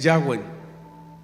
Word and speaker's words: Yahweh: Su pronunciación más cercana es Yahweh, que significa el que es, el autoexistente, o sencillamente yo soy.